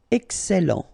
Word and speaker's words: excellent: Remember, double L and E before, it will open the E. So, excellent. excellent.